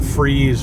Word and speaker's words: Fries: Then the Moravian Cemetery, the massacre at Nottenhooten, and then the Freeze, spelled like fries, but it's the Freeze Rebellion, which is a pretty monumental event during John Adams' presidency.